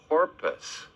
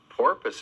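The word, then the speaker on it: porpoise: It's a porpus. Porpus is spelled P O R P O I S E.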